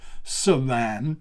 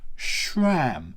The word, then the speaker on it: SRAM: Yes, it's not SRAM, it's not SRAM, it's not SRAM, it is SRAM. So sh as in shut up, sh as in shh, there's something coming, am as in I am a YouTuber. So you put those two together and you get, well, you've got to add the R somewhere. So R as in row your boat ashore.